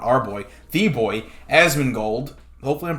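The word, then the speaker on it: Asmongold: um our boy not our boy the boy asman gold hopefully i'm pronouncing that correctly yeah asthma gold okay perfect he live stream runescape we did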